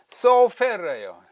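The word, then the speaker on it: סופר: 서기관으로 번역된 히브리어는 소페르예요. 소페르, 이렇게 로마자를 이렇게 쓰고 우리말로 소페르 또는 소페르, 또 요거하고 조금 다르죠. 요거 있는 거요. 히브리어는 이렇게 쓰나 발음은 똑같습니다. 소페르.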